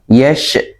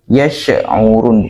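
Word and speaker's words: يَشْعُرُونَ: Jadi bukan yash, bukan yash ya. Yash'urun bukan yash, tapi yash'urun gitu ya. Walakin la yash'urun. Yash habis dialirkan kemudian ke huruf ain.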